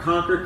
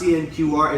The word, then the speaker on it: CNQR: We're moving around the globe with the folks from our Conquer Collective team, CNQR, and let's tell you what that stands for. It's not pronounced CNQR, it's pronounced conquer, as in conquer your